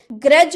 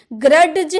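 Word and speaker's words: grudge: जैसे कि ग्रज हम लोग बोले ना तो यहां पर देखिए जी के पहले डी हम लोग का है ना डी जी का पहले हम डी देखने को आ रहा है ना यानी कि इसे हम डी का प्रोनाउंस किए नहीं ना किए ग्रडज हम नहीं बोल रहे हम क्या बोल रहे ग्रज ग्रज यानी कि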